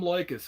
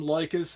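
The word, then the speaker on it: Leykis: is going to sound his name is tom lycus okay now normally he talks about relationship advice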